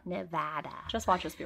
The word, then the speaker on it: Nevada: Okay, so guys, our goal for this episode is to pronounce Nevada correctly the whole time, because we had to look it up and we thought it was Nevada.